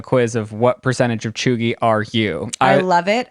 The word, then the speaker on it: cheugy: if you weren't watching our previous episodes it's pronounced chugi it's to describe somebody who's untrendy out of